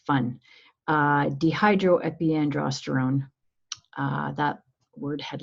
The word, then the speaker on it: dehydroepiandrosterone: you release something called DHEA I'm going to pronounce that for you just because it's fun dehydroepiandrosterone that word had like 62 characters so that